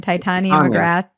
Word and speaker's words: Titania McGrath: Titania McGrath. Titania, yeah. I always mispronounce it.